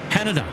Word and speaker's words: Haneda: Now, Darren, for somebody who probably travels to Japan, well, fairly frequently, how do you pronounce Haneda? Haneda. Like Canada.